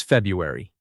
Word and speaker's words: February: Number 4 is February. Most people drop the first R sound.